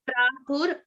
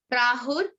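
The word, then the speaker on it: प्राहुर्: The easy way to remember is Prahur, like you pronounce the R at the end of the word, Prahur, and then the next one would be Avyayam. Prahur Avyayam. Perfect.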